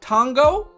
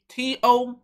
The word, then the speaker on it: Tonga: Again, we're on Operation Tonga. I'm pretty sure that's how you say it. T-O-N-G-A. Tonga? Tonga? Oh, shoot. I was saying O instead of an A.